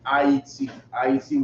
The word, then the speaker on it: Ayiti: Go to Isupk IET, which is spelled AYITI, right? AYITI. That's how you say Haiti in Creole.